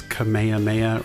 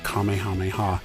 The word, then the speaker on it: Kamehameha: i've also learned that there's actually some debate over the correct way to pronounce kamehameha the english dubs have done it differently over the years some have pronounced it as kamehameha or kamehameha and others have said kamehameha apparently that is the more correct way to say it i'm sure i'm going